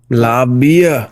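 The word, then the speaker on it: La Bahía: I wonder how people in Texas pronounce La Bahia. Labia. Well, we call it labia.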